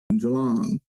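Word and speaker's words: Geelong: like no no no it's not e e like don't no no it's more like an a like J jalon so yeah jalon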